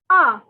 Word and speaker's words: un: the word un and it is pronounced as ah ah all right so uh